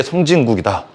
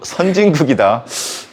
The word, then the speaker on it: 선진국: 바다 동쪽에 성진국이다. 발음 잘해야 돼요. 성진국이 아니고 선진국이다.